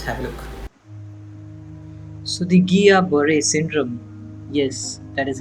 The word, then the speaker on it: Guillain-Barré: So the Guillain-Barré syndrome, yes, that is how it is pronounced.